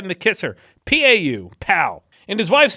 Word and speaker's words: Pau: His city was named Pau. Pau, right in the kisser. P-A-U, Pau.